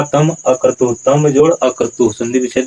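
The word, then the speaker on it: तमक्रतुः: अब यहाँ तम कर्तु नहीं होगा, उच्चारण क्या होगा, तम अकर्तु।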